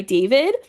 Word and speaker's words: D4vid: Then I picked Sino and Tignari, and I picked Here With Me by David, but spelled with a 4. It's D4 vid.